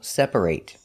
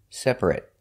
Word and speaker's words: separate: and sometimes pronounced it if it's a verb it's pronounced ate example separate if it's not a verb an adjective for example it's pronounced e separate we're going to practice